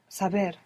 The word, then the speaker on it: saber: Saber. Saber. This is a B. It's a B, saber. Saber. This is a B. So you're not going to pronounce a V.